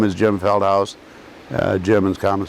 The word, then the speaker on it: Feldhaus: Okay, my name is Jim Feldhaus. Jim is common spelling. Feldhaus is spelled F-E-L-D-H-A-U-S.